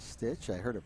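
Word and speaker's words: Stich: Number 15, Cody Stitch. They pronounce it as Stitch.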